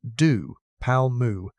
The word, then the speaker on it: DePalma: In 2007, a graduate student named Robert Depalma, pronounced doo palm moo, found exactly that in the Hell Creek Badlands of South Dakota.